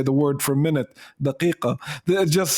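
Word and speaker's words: دقيقة: Do you actually pronounce it daqiqa in Jordanian? No. Daya or daqiqa. Oh, dia. We say daqiqa. Daqiqa in Iraqi, right? Yeah, we actually say daqiqa. Daqiqa is the closest to the Fusha.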